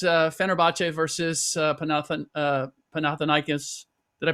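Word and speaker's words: Panathinaikos: Uh it was uh Fenerbache versus Panathan uh Panathanikas. Did I pronounce that correctly?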